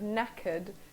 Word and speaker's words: knackered: reiterate the fact that the pronunciation of knackered knackered is really really important you don't want to